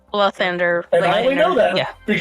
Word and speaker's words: Lathander: Also, I'd like to point out, because you have consistently pronounced it Lythander. Mm-hmm. It's L-A. It's Lythander. Lathander.